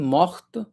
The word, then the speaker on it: morte: mourir mort Okay, mort for masculine, morte for feminine. When you add e then t will be pronounced, okay?